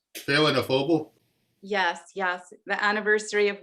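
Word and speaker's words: Féile an Phobail: it pronounced? Phelanophoble.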